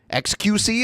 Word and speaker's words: xQc: xQc, is that how you say it? Yeah, he's one of the biggest Twitch streamers.